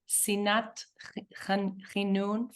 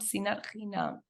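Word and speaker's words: שנאת חינם: There's no room for, I always mispronounce this, sinat chinun, for interchinam, sinat chinam.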